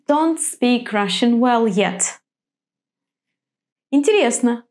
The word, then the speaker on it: интересно: Why is it on the first syllable in холодно, on the third in интересно, and on the last in хорошо?